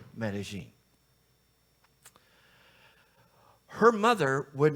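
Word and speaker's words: Medellín: over 4 million people some people pronounce it medine but people from that area of Colombia pronounce it medine her mother would not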